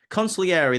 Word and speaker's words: consigliere: Is that you say it? Consigliere? Consigliere, that sounds a little bit more like how you say it.